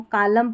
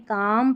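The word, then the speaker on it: calm: फिर देखा कि जब भी एल एम इस तरीके से आखिर में रहेंगे स्पेलिंग के, तो यहाँ पर एल हमारा साइलेंट रहेगा. जैसे इसको कालम पालम नहीं काम पाम पढ़ेंगे.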